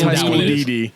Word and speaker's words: High School DxD: I thought X's weren't pronounced. So They're not. It's High School DD.